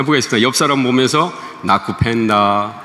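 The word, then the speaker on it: nakupenda: 수활은 그냥 소리 나는 대로 읽으면 되고요. 액센트는 뒤에서 두 번째 모음에 있습니다. 무조건. 그니까 잠보, 아산떼, 나쿠펜다 이렇게. 예.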